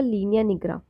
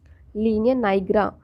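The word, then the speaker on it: linea nigra: इसके साथ साथ हमें क्या देखने को मिलेगा, लीनिया निग्रा, लीनिया नाइग्रा या निग्रा, जो भी आप प्रोनाउंस करें।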